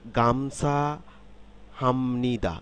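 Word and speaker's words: 감사합니다: কিন্তু পরিবর্তিত হয়ে মিয়ম হয়ে গেল ঠিক তাইলে গামছা হামনিদা গামছা হামনিদা এই গামছা হামনিদা শব্দটির অর্থ হচ্ছে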